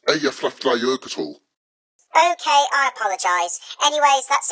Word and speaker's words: Eyjafjallajökull: The Eyjafjallajökull eruption back in 2010 produced a huge ash cloud that caused chaos to global air travel. Tom, it's pronounced Eyjafjallajökull.